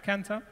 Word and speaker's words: Kantar: Yeah, Kantar.